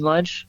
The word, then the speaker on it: Lunche: me on Instagram lunch that's lunch with an e and pronounced uh just like lunchtime oh yeah and and